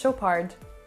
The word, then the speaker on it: Chopard: french or swiss but i do know that the d should be silent so you will pronounce it chopa and once again the ar kind of light and airy so chopa and not chopard now